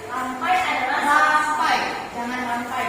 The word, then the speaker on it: Rampai: Rampai. Rampai adalah Rampai, jangan rampai bacanya.